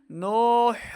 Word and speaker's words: نوح: قال نوح الرب نوح الرب نون واو پیش، نو واو ساکن سے پہلے پیش ہو تو واو مدہ، اس کو دو حرکات لمبا کریں گے. نو آگے ہا کو را کے ساتھ ملانا ہے، ہا کو تلفظ کے ساتھ پڑھیں گے.